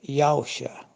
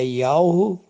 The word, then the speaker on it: Yahushua: A irmã está pronunciando Yahusha. Não. É Yahushua.